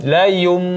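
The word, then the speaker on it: لَيُنْبَذَنَّ: La yunbadanna. Nah, ini iqlab. Cara membacanya ada 2 seperti yang mana kita jelaskan. La yunbadan, ya, imma dengan cara membuka sedikit bibir, la yunbadan.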